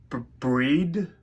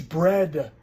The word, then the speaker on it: bread: Which means if you add an R to bead, you get breed. No, it's bread. You don't see how it's because it's like head, not heat. Bread.